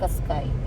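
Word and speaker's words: Qashqai: എങ്ങനെയാണ് പ്രൊനൗൺസ് ചെയ്യേണ്ടത് ഈ കഷ്കായ കാഷ്കായ് ഇതൊരു പേർഷ്യൻ പദമാണ് യഥാർത്ഥ ഉച്ചാരണം കുറച്ചുകൂടി സങ്കീർണമാണെങ്കിലും മിക്ക ആളുകളും എളുപ്പത്തിൽ മനസ്സിലാക്കാൻ കാഷ്കായ് എന്നന് ഉച്ചരിക്കുന്നതാണ് നല്ലത് കഷ്കായ് എന്ന വാക്ക് മലയാളത്തിൽ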